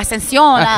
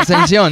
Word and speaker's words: Ascension: I'm mad at that name because my Mexican self, I'm like Ascension. There you go. Ascension. That's good. Ascension. That's exactly how you say it too.